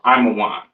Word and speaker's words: Ammon: So Ammon, so-called Japanese, pronounced Imawan.